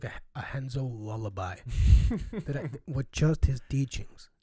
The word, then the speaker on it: Renzo: It's Renzo. Okay. Gracie. R's in Portuguese. Mhm. Portuguese is pronounced H. And all the Gracies are named with an R at the, Hobson, Hickson. Those are all R's.